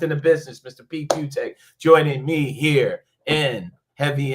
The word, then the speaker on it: Fiutak: Pete Fiutak, as it's spelled, like nobody can spell it, but Fiutak, and College Football News on the X machine.